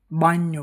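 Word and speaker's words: bagno: जैसे बी ए जी एन ओ बा्यो।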